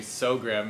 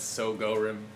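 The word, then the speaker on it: Sogorim: Everybody calls me So Grim, and it's So Go Rim. So Go Rim. So Grim. Grim. It's an extra syllable It, there.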